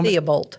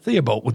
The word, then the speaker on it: Theobald: Theobald. Theobald, just like it looks.